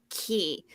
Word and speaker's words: Qui: our full episode recap on Yellowjackets episode 206 key it is spelled q-u-i and it means who in French